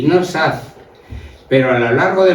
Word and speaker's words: Saz: de nuestra investigación, que los apellidos Saz y Sacedo son San y Salcedo, pero que la pronunciación primera como más suave ha prevalecido. Quiere decir que pues por serían san, pero la gente oía SAZ y todo el mundo decía ya saz S, saz.